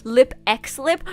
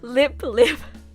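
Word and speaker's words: LIP×LIP: with without the x i'm pretty sure usually when there's an x in the middle you're not supposed to pronounce it that's what i've learned spy x family no no spy family hunter x hunter no no no hunter hunter lip x lip no no no lip lip but yeah i know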